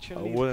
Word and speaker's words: Chun-Li: Don't say it like an English white man. It's Chun-Li.